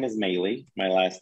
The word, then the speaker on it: Melih: My first name is Melih. My last name is. In other words, it's spelled Melih.